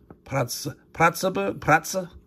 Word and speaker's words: Pratzen: Pratzen. Gonna pronounce that E, being Austrian, German.